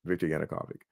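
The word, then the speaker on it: Yanukovych: the pro-Russian Ukrainian president Victor Yanukavic. I always mispronounced this guy's name, but yeah, that's it. Victor Yanukovic.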